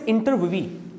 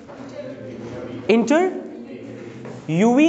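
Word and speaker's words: interviewee: इज a word guys, इंटरव्यूवी. What will you pronounce guys? इंटर यूवी नहीं, पहले बोलो इंटरव्यू, इंटरव्यू, इंटरव्यू. अब last में लगा तो ई, इंटरव्यूवी. बोलो इंटरव्यूवी, बोलो इंटरव्यूवी, इंटरव्यूवी.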